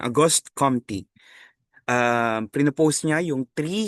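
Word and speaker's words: Auguste Comte: Una sa paradigm ay ang paradigm ni August Aughost Compty. Okay. Gan ganun daw yung ano pronunciation. Aughost Compty.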